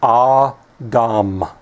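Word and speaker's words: אָדָם: you have here is ah Dom okay so ah Dom these together this the dollar the vowel point the mem make the syllable Dom So Adam of course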